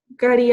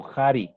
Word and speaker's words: kari: Nosotros el cari, nosotros lo pronunciamos como jari, con J. Jari. ¿Sí? Entonces es jari atalpa, jari alcu, Aunque también Cari. en el quichua del centro también dicen cari, ¿no?